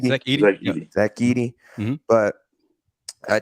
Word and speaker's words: Edey: Zach Edey.